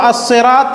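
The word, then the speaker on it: الصراط: हम लेकिन हम इसको असरात में मिलाएंगे तो यह अलिफ लाम साइलेंट कर देंगे डायरेक्ट स्वाद में मिलेगा कायदे के हिसाब से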